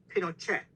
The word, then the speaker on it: Pinochet: TV show or something it was counterintuitive that apparently it was pronounced Pinochet with a hard T but in this film